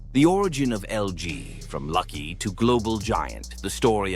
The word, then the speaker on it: Lucky: The origin of LG from lucky to global giant.